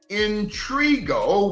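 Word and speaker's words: Intriago: name of Antonio intrigua Intrigue allow me to pronounce that capital i n t r i a g o intrigo was the owner still is the proxy owner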